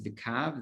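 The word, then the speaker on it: קוה: a line, but it's the way it's written in the text is with a hey. We read it as vikav. The hey is silent, but vikaveh may also be like hope.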